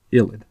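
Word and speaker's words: ylide: Y-L-I-D is pronounced ilid.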